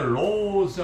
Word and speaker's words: Rhodes: 있는 로드 대학교에 여기다 로즈 할 때 RHODES 일 때 D는 음가가 탈락됩니다. 플랜드 복수형이 될 때는 플랜즈라 해서 플랜드즈라 하면 안 됩니다. 이 발음 못하는 그 나이 든 세대는 플랜드즈 친구들을 할 때 플랜드즈라는데 들 음가 벗어나니까 탈락시고 플랜 FLIN 하고 D를 빼고 Z 바로 이렇게 발음해야 돼요. 여기 마찬가지로 로즈라 이렇게 발음하셔야 돼요.